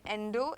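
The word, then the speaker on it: endow: इसमें endo एक नया वर्ड है, राइट? इसको हम प्रोनाउंस करते हैं endo.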